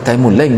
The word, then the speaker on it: Taimurleng: Dia sebenarnya baca Taimurleng dia bacanya.